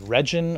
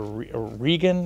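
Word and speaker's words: Regin: this new computer virus that was discovered called regen or regan and i'm not exactly sure how to pronounce it it's uh reagan it's a yeah right it's reagan it's reagan uh it's a name from norse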